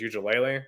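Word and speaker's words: Uiagalelei: I think it's Ujulele.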